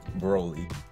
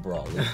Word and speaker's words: Broly: movie Dragon Ball super Broly I said it right this time not brawl and this movie pretty